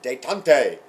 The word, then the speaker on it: détente: This is détente. You can say it like a Native American or a Frenchman. Détente.